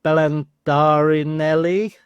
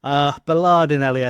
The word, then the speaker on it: Bellardinelli: They've got a throw-in right by the corner flag now to Bellandarinelli. That's not his name. Bellardinelli, I think it was. It's not Bellandarinelli. It is Bellardinelli.